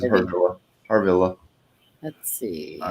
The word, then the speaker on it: Harvilla: Yeah, That's right, because I pronounced it incorrectly. yeah. You said or whatever. Harvilla, yeah. And it was Harvilla.